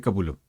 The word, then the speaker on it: Capullo: Y se llama Greg Capullo para algunos que lo pronuncian. No es Capullo, es Capullo. Se lee Capullo, obviamente, porque es lo que como está escrito, pero en realidad el apellido es Capullo, Greg Capullo.